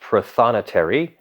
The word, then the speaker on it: prothonotary: top notary the most important notary it is pronounced prothonotary and they are the quintessential they are the